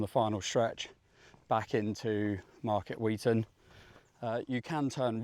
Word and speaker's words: Market Weighton: So, it is called Market Wheaton for those of you who are reading it. Wait on. It's um it's pronounced differently up north.